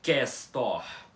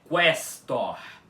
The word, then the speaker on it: questor: Mas, a pronúncia correta dessa palavra balborana, como vocês já sabem, não é questor com o U mudo, é questor, questor.